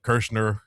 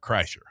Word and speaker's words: Kreischer: Well, I can say Bert, but Kirshner. How do you actually say it? It's Bert Kreischer. I don't know him, but mispronouncing it is.